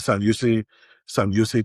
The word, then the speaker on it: San Jose: is the San Jose, or the J is silent. So it's the San Jose team where we have Celebrini.